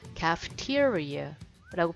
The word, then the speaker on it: cafeteria: 자, 얘도 아까 카페처럼 까가 아니라 캐라고 발음합니다. 그래서 cafeteria라고 발음하시면 돼요.